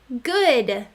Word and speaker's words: good: Try this word, good. You're right. We see our O-O pattern, but we hear a short U sound.